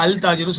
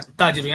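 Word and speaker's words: التاجر: அத்தாஜிரு சொல்லும்போது அல் தாஜிரு சொல்றது இல்லை, அத்தாஜிரு. ஏன்னா இது சன் லெட்டர்.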